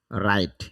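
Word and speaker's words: write: কারণ আর এর পূর্বে ডাবলিউ থাকলে তার উচ্চারণ হয় না।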